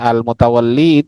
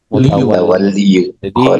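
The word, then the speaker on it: al-Mutawalli: Maka kalau dibacanya almutawalli itu dosa dua kali ngasih harkat hamzah sama enggak di zahirkanya. Yang benar itu almutawal mutawalli mutawal. Mutawalli itu adalah nama.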